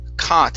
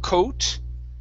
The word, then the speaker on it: caught: And your last one is caught instead of coat. Okay, this is an ah sound.